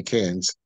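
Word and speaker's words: Cannes: and and can France is that how you say cans it's spelled c an NES but I think you just say cans yeah can yeah can's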